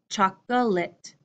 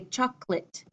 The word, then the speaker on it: chocolate: with difficulties in English my longer clear pronunciation chocolate chocolate my short American English pronunciation I say chocolate Chuck chocolate I could